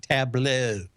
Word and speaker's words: Tableau: It's actually how you pronounce it, Tableau.